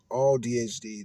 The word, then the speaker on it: AuDHD: ADHD, autism, and the all ADHD, autism, and the I guess it is all DHD. All DHD. That's what it is. It's spelled AU capital DHD, but it's odd.